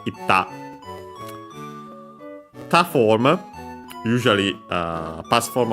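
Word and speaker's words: いった: So yeah, ikta, difficult to pronounce, and so became simply doubling of the following consonant, itta.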